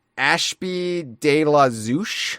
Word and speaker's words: Zouch: Ashb de la Zouch. I think it's Zouch.